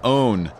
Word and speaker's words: pwn: I'm so old, they used to say pwn own, even though it's spelled with a P. Nobody says it right anymore. You're supposed to still say own, even though you write down the P.